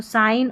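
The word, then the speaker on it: sign: Number 35 पर देखिए जी एन है। इसको न पढ़ेंगे क्योंकि जी साइलेंट है। तो साइन और डिज़ाइन साइन और डिज़ाइन में जी साइलेंट है। जी एन साथ में रहेंगे और जी साइलेंट रहेगा।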